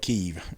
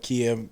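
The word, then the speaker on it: Kyiv: up in kiev right i think the ukrainians call it keeve right the russians call it kiev the ukrainians call it kiev it's an american tradition to pronounce everything incorrectly hey there's a you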